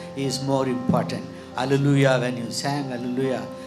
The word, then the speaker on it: Hallelujah: Hallelujah, when you sang hallelujah, the stress is on Lu, but it has to be on Yah. Because Yah is the God, Yahweh. So the stress has to be on God, but you are stressing longer time, but it's not